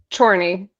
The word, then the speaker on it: Chorney: Will you pronounce it for me? Chryney. Chry. Ida. Chryney.